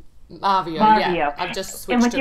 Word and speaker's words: Marveo: Well, Marvio. Marvio, yeah.